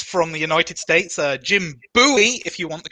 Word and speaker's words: Bowie: the design is from the United States Jim Bowie if you want the correct pronunciation but yeah one of my favorite knives